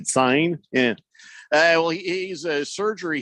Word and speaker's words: Cine: Cine. Cine.